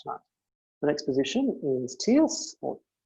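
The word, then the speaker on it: tierce: the next position is tears i try to remember to say it terse as in tertiary because these are wonders but it pronounces tears because it starts genetically all i do with that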